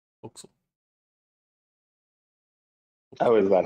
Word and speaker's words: forecastle: For some reason, someone decided to make it pronounced like that.